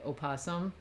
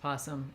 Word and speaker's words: possum: However, in American English, we don't actually say opasum. We do on this stream just because we enjoy it. But generally speaking, even if it's spelled with an O, it's just possum.